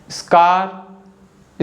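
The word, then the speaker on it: scar: कि sceptic स्कार स्कैम इन तीनों words में जो लेटर सी है ना यस के तुरंत बाद तो आ रहा है लेकिन फिर भी हम लेटर सी को बोल रहे हैं और सी कौन सा आवाज बना रहा है क आवाज बना रहा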